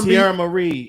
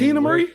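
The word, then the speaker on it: Teena Marie: Like I think our R Tier Marie and I mean I'm sorry. I'm sorry. I'm sorry. I I said her name wrong. Uh what's my what's the white girl that used to sing? Tina Marie.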